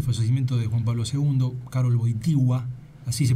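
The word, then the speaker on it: Karol Wojtyła: 14 en el procedimiento de juan pablo segundo karoui sigua así se pronunciaba ha sido raro no ese día concluía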